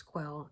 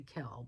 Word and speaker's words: Quell: And so um I don't know if I'm pronouncing that right, if it's quell. It's que l. Some people might say kell, but I think it's quell. Um he want that.